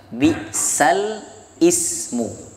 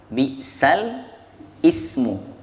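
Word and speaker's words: بِئْسَ الِاسْمُ: Ini bacaan awalnya adalah bi'sal ismu. Bi'sal ismu, ada alnya, ada hamzah berharokat kasrah, bi'sal ismu.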